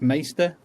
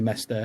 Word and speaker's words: Mester: word doesn't it some people kept saying it's pronounced maester but that's more game of thronesy to me than anything else yeah um so i say mester and then on my website i was quick